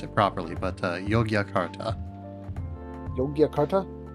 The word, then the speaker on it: Yogyakarta: I'd probably need a little bit more practice to pronounce it properly, but Yogyakarta. Yogyakarta? Yogyakarta.